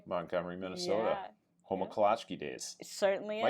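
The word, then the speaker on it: Kolacky: Home of kolachki days.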